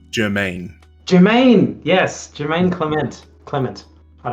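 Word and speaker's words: Jemaine: Jerome? Oh, even closer. Jerome. There's an S in there, right? It's like a... No, it's Jermaine.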